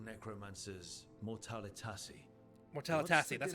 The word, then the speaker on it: mortalitasi: So, I've heard people call necromancers mortalitasi.